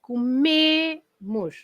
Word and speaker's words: comemos: Because the stress now is not on the co anymore, the stress is on me, right? Comemos.